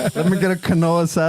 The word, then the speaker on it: quinoa: until somebody's like uh it's actually quinoa like dude how come nobody's ever told youo let me get a Canoa salad or is